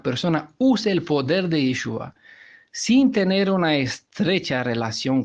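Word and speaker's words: ישוע: Y ahora, pues lo encontramos que ya no pronuncia Yahweh, sino que pronuncia Yehovah. Y así bien entendió que el nombre del Redentor de ningún modo es Yahshua, sino que es Yeshua.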